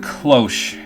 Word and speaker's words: cloche: Like, I remember, I think the word cloche, which is pronounced completely wrong in French, is the one that really tripped me up, because it was not clock, even though it's like the closest possible thing to clock.